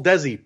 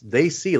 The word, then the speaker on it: Dacey: Went back to the whole Desi pronunciation. What are we doing? I told Josh, I said, it's they see, like saying they see, like, oh, they see something.